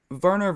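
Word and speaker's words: Wernher: Anyways, and if you guys don't know who Werner von Braun is, I can put his name in the comments too.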